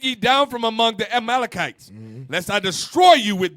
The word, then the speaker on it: Amalekites: Amalekites.